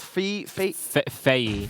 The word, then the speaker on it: Fei: So earlier on, we had a team, Wingman squad with Takuo and another player called Fei. Yes, that's the correct pronunciation.